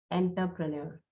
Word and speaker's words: entrepreneur: Entrepreneur, entrepreneur. That's the correct way of pronouncing it.